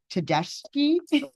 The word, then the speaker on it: Tedeschi: It's Tedeschi. It's yeah, Italian pronunciation. CHI is key.